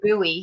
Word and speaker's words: Bowie: bowie oh my gosh but we pronounce the buoy here yeah bowie according to